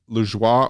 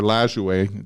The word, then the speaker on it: Lajoie: 1914, Cleveland's second baseman Nat Lajoie, or Lajoie, depending on how you pronounce it, collects his 3,000th hit.